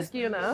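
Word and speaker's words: Niskayuna: How do you pronounce the high school name again? Niskuna.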